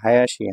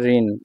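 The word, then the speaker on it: 林: কাঞ্জিটা দেখুন প্রথম যে কাঞ্জিটা আছে এটা হলো হায়াসি হায়াসি হচ্ছে ছোট বোন এটাকে বলা হয় ঠিক আছে ছোট বন অর্থে এটা প্রকাশ করা হয়ে থাকে এটার দেখুন এখানে চাইনিজ উচ্চারণ হচ্ছে ঋণ ঋণ ঠিক আছে ঋণ আবার এটাকে বায়াসিও বলা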